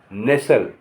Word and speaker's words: nestle: NESTLE नेसल, नेसल माने प्यार से चिपकाना, नेसल माने प्यार से चिपकाना। अब जहाँ आर साइलेंट होगा उसके बारे में आपको बताना जा रहा हूँ, कहाँ कहाँ साइलेंट होगा।